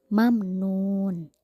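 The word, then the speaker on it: مَمْنُونٍ: jelas contoh lain di kata mamnun mim mati bertemu dengan Nun maka harus dibaca jelas juga Nah itulah hukum bacaan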